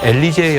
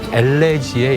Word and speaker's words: 엘레지: 아까 유 앵커님이 조금 발음을 잘못하셔서 예. 엘리제의 여왕이라 그러셨는데요. 네. 엘리제는 여성 이름이고요. 예. 엘리제를 위하여라는 김경호 씨의 곡이 있는 거고 예. 엘레지의 여왕입니다.